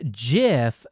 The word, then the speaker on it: GIF: So you're telling me that GIF is pronounced GIF because when you break it down, it's actually just binary, and binary is going to be represented by the Arabic numerals 1 and 0, and therefore GIF is actually an Arabic word.